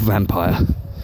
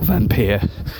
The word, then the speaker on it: Vampyr: It's called Vampyr, or Vampyr. It's spelled Vampyr.